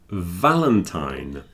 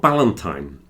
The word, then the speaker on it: Valentine: It's not Ballantine. Everyone pronounces the V as a B here. Yeah. It's very difficult to go Valentine's Day. Yeah. So it's like the F, but it's voiced.